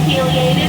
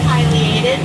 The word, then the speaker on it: pileated: And you can say pileated or pileated. Both pronunciations are correct.